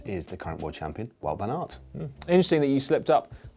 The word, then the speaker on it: Wout van Aert: Is it Wout?